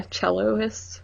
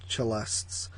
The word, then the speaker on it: cellists: Yeah, celloists, right? Cellists. Whatever. The proper pronunciation is cellists.